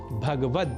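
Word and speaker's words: भगवद्: पर श्रीमद् भगवत गीता इसमें भगवत पद में ग का से संयुक्त अ स्वर का हम लोप कर देते हैं और क बैठते हैं भगवद जबकि शुद्ध उच्चारण भगवद ही है यह तो थी स्वर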